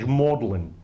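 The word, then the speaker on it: Magdalen: comes from the British pronunciation of magdalin they pronounced this college mlin mlin there's one at Cambridge mlin with an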